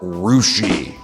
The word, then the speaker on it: Russia: It's spelled Russia, but it's called Rushi.